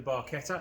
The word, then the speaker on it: barchetta: another episode with the barqueta yes that's how you're supposed to say I've been saying it wrong for about 20 odd years but let's ignore